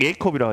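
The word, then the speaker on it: Jakob: 지금 그 장현진 선수하고 그 제이콥인데 약 예콥이라고 하죠. 왜 저기 뭐냐 유럽에서는 J 발음을 하지 않습니다.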